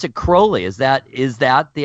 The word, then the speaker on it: Crowley: now you pronounce it Crowley as that is that the actual pronunciation of his name yeah cuz it rhymes with unholy oh well tell us